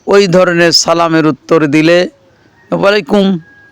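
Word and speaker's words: وعليكم: ধরনের সালামের উত্তর দিলে ওয়ালাইকুম মানে মিম উচ্চারণ করতে হবে ওয়ালাইকুম আসসালাম ওয়ারাহমাতুল্লাহি ওয়াবারাকাতুহ এবার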